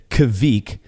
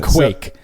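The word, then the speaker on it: kveik: pronounce things more Norwegian you need to meld the K and V into one sound a KV sound I'm guessing it's uh in the podcast you pronounced it Kavik which is like which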